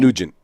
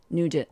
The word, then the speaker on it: Nugent: Nugent. Nugent.